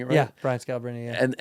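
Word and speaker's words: Scalabrine: Brian Scalabrini.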